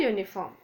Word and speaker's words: uniform: Now uniform is beginning with U. U is a vowel, but when you pronounce it, it is Y, U. So Y is vowel. So it is a uniform.